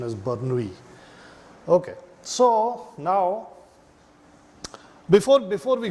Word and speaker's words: Bernoulli: The pronunciation is, but if you go with the pronunciation of the English spelling of the name, it will, or should I call it Desi pronunciation, would be Bernoulli, right?